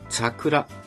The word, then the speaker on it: 桜: というのはチャクラチというねえ発音だったという風に考えられておりますまサシスそがサシスみたいなまそういった発音だったという説がありますま時代で言う